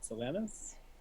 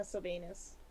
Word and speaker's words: Sylvanus: I didn't realize there was some anus in his name. Oh my god. If you pronounce it a different way, it turns into Sylvanas, and then you're worshiping Sylvanas Windrunner.